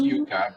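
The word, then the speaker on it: yuca: in the uf that is different it's it's pronounced yucca but it's with one sea it's a different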